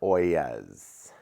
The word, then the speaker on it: ollas: And those are oyas. People don't always understand. It's an interesting pronunciation.